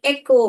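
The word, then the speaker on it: echo: वाले और क्या लिखे एक ओ मैंने जैसे बोला था यहां पे देखो ए क हमारा सी एच ने क्या बोला यहां पर क बोला एक ओ ओ यहां पर ओ ने क्यों अपना नाम बोला एक ओ एक हम नहीं पढ़ते हैं एक ओ पढ़ते हैं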